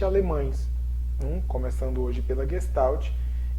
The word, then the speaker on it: Gestalt: sobre psicologia da gestalt e o nome se pronuncia si mesmo g não tem um nozinho aqui mas é gestalt né pode até dar 11 sonido no ter